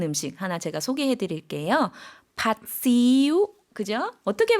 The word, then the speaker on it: ผัดซีอิ๊ว: 팥시우. 그죠? 어떻게 발음하죠?